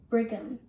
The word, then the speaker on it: Brigham: operation and also the first solid organ transplant brigham while you may be like me who likes